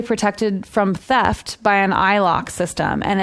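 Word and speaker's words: iLok: plugins are actually protected from theft by an eye lock system and it's spelled lower case I and then capital L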